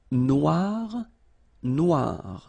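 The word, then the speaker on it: noire: So it's quite funny because you will have to add this uh at the end of noir for the feminine form but then you don't pronounce it. Okay. So phonetically it is exactly the same.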